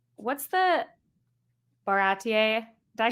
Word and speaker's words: Baratie: I saw like the nods to his original character, but like what's the Baratier? Did I say that right? Yeah, Baratier.